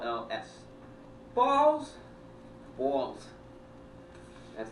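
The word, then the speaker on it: Bawls: just specify something with the the name it's balls b a w LS not b a l LS balls balls that's how it's pronounced walls I like well all right anyways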